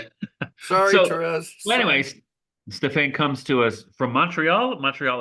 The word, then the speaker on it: Stephane: So yes, so today our guest, Stephane, is that how you pronounce it, Stephane?